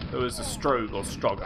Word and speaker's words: Strogg: Well, then again, Quake 2, there was a Strogue or Strogger. I think it's pronounced Strogue, even though it's spelled Strog.